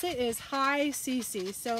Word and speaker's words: HICC: for comfortable so h-i-c-c and the way you pronounce it is high cc so it's like hello clean and comfortable that's